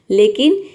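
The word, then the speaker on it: low: को आव प्रोनाउंस करेंगे, लेकिन ये वर्ड के लास्ट में अगर OW आए तो वहाँ पे हम O प्रोनाउंस करेंगे।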